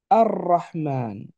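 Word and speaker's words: الرحمن: Or, dans le cas de Rahman, il est particulier, le L ne se lira pas. Il s'écrit, mais il ne se lit pas. Et on aura ici une accentuation. Et donc de Rahman, je passe à Ar-Rahman.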